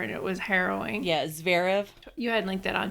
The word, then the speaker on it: Zverev: As a sadder note, I don't know how to pronounce his name, Sharav. How do you say it? I read his ex-girlfriend's account of his abuse of her, and it was harrowing. Yeah, Zverev.